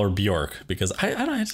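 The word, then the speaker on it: Björk: name and she goes bjerk it rhymes with jerk and i just thought that was really funny that is really funny i'm gonna call her bjork because i i don't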